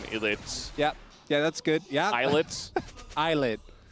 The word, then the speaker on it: ILLIT: Eyelet. Eyelet. It's written Illit, yeah, but it's pronounced I was Eyelet. told it was Illit at first by someone.